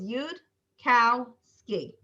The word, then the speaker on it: Yudkowsky: In Hebrew, people say Yudkowitz and Yudkowsky and all sorts of things. So it's a hard name. So what we do is Yudkowsky. We separate out the 3 syllables, Yud, cow, ski.